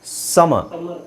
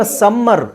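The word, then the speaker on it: summer: simple ಪದ ಅಂತ ಹೇಳಿದ್ರೆಎಸ್ ಯು ಎಂ ಎಂಇ ಆರ್ ಇದನ್ನ ಉಚ್ಚಾರಿಸೋದು ಹೇಗೆ ಸಮ ನಾವು ಅದನ್ನ ಸಮ್ಮರ್ ಸಮ್ಮರ್ ಅಂತ ಎಲ್ಲರೂ ಉಚ್ಚಾರಣೆ ಮಾಡೋದು ಏನಂದ್ರೆ ಸಮ್ಮರ್ ಸ ಮರ್ ಸಮ್ಮರ್ ಆಕ್ಚುಲಿ ಇಲ್ಲಿ ಇದರ ಅವಶ್ಯಕತೆನೇ ಇಲ್ಲ ಸಮ ವಿಂಟರ್ ಇನ್ನೊಂದು ಒತ್ತಿ ಸ್ಟ್ರೆಸ್ ಅಂತ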